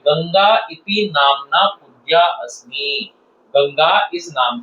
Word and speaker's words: गंगा: गंगा गंगा नदी है। कुछ छात्र इसको सही उच्चारण इसका नहीं कर पाते हैं। गंगा ये गंगा है ये ड नहीं है ये गंगा है गंगा है उत्तर प्रदेश अहम मातृ